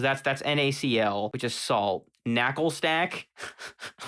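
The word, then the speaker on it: Naclstack: Knuckle stack. Like, that's not how you're supposed to. You don't just say NaCl like an actual word, but it's part of another word. So we have knuckle stack and garganackle.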